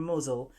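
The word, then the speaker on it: Mousehole: visit or tale from mosle that's how it's pronounced but the spelling looks like mouse hole in 1595 a fleet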